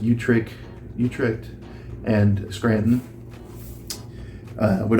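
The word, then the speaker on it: Utrecht: Old Catholic Church of uh I think it's pronounced Utrich, Utric and Scranton uh would augur that even um Orthodox Anglicans um conservative Anglicans would agree with that.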